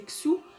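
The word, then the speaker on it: 戌: Le mois d'octobre, c'est le signe du chien, prononcé Xu, du coup, en chinois.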